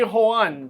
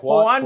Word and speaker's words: Juan: Well, the the J is pronounced like an H. So, it would be Juan. Okay. Juan Juan Praelles.